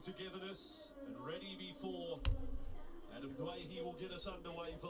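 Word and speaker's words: Doueihi: Adam from the West Tigers now would like to be pronounced as Dwayhe, and I'm sure the Lebanese community are happy with that. We respected his wishes when he wanted to be known as Dewey, but now Dwayhe it is at the cup.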